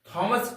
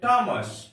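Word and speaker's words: Thomas: पूर्वक सुनेंगे हम लोग थॉमस थॉमस कभी भी नहीं बोलेंगे हम लोग इसको बोलेंगे थॉमस थॉमस थॉमस का उच्चारण यहां पर थॉमस होता है जैसे हम लोग ने सुना है थॉमस एडिसन एक वैज्ञानिक का नाम है हम लोग थॉमस बोलते हैं नहीं इसमें एट साइलेंट है नंबर सेवन में पढ़ेंगे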